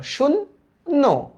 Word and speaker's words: শূন্য: শূন্য, নর্মালি উচ্চারণ করো, শূন্য। তাহলে কিভাবে উচ্চারণ করব আমরা? এই যে দেখো, শুন, তারপরে উচ্চারণ করব নো, শূন্য।